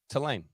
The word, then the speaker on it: Tulane: so now I'm like Tulane Tulane telling yeah how do you what is the proper way to say it uh to Lane to Lane you know what